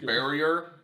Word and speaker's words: Bariaur: Bariaur Wanderer. Yeah, I mean I'd say Bariaur Wanderer. Yeah, closest enough. Yeah. Centaur with extra syllables.